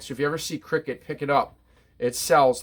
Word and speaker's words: Criquet: The brand's called Cricket, and it's spelled different than what you would think it's spelled. Criquet.